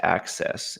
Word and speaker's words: AHCCCS: Arizona Medicaid is pronounced access.